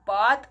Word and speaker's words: bathe: এবার মনে হতে পারে দ্যাট বাত আর বেত এই দুটো কি, দুটোর মানেই কিন্তু সেম, অর্থাৎ স্নান করা, পরিষ্কার হওয়া। একটা আমি উচ্চারণ করছি বাত, BATH, আর একটা উচ্চারণ করছি বেত, BATHE।